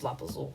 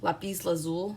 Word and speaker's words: Lapis Lazuli: you guys to use Lapazul, okay? I'm pretty sure I'm saying it wrong. Lapis Lazuli, I think is how you say it, but that's just how I heard it.